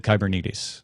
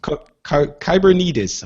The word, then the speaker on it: Kubernetes: The foundation centers around the use of Google Kubernetes. Is that how you pronounced it? We checked before the show, and I already forgot. Someone who was showing this off on stage said Kubernetes. So Kubernetes. All right, let's go with that.